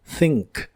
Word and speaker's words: think: de inglés es think la th de este verbo es la th suave de inglés y se pronuncia soplando entre la punta de tu lengua y tus dientes de arriba think think y puedes usarlo